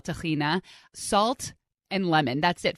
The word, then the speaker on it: tahina: it is is chickpeas what we call tahina but israelis call tahina salt and lemon that's